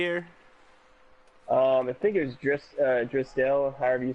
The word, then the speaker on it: Draisaitl: I think it was Drisdell, however you say his name. Draisaitl? Draisaitl, yeah.